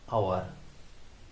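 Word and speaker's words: hour: একটু আগে বলেছিলাম আওয়ার উচ্চারণ কনসোনেন্ট দিয়ে শুরু হয়েছে, কিন্তু এর উচ্চারণটা ভালের মতো, তাই এর আগে কি বসবে? না এ না বসে এন বসবে। He work for অ্যান আওয়ার।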